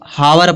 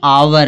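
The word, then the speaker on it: hour: फिर इसको तो बहुत लोग हावर पढ़ते हैं। हावर जबकि यह हावर नहीं है। यह आवर है।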